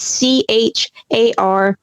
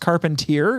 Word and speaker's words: Charpentier: So if you like some good old-fashioned literature, I highly recommend you check out Charpentier. That's Charpentier. Yes, it's French.